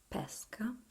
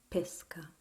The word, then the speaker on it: pesca: Pesca, with the open E, which is a peach, a fruit. Or you can read it pesca, which is the act of going fishing. So in Italy, where I live, you say pesca anytime with a closed E, and people will understand what you mean.